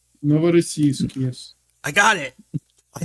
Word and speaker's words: Novorossiysk: Help us pronounce the word. It's Novorossiysk. Novorossiysk, yes.